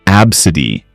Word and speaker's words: ABCDE: steam naming their kid ABCDE pronounced absidy maybe they thought the